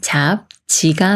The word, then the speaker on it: 잡지: 싸라고 읽어요 답사이 연말은 잡지가 맞을까요 아니면 잡지가 맞을까요 비읍 받침이 초성 지을 만났으니까 초성 지을시 쌍지 수리인 쯔가 되면서 잡 찌라고 읽어요 잡지 오늘의 엔딩 문장은